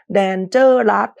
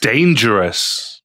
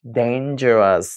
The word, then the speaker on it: dangerous: เต ตาม ตัว d a n dan ไง Danger rus แต่ ว่า in english actually We pronounce Dangerous Dangerous ไหน ทุก คน อ่าน พร้อม กัน อีก ที